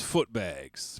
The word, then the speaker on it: Footbags: I mean full stop my name is foot bags pronounced with the book bags and this is live